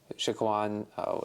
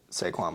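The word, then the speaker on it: Saquon: mean yeah like uh Shaquan Barkley saquan Barkley yeah I knew I said his name wrong Shan I could think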